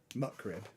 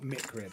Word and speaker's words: McRib: Muckrib. McRib. So it's muckrib. McRib. Yeah. Not mickrib. No, McRib. See, she's not simple. Only simpletons say mickrib.